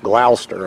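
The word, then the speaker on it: Gloucester: The uh the name of this road in New England would be pronounced Glouster.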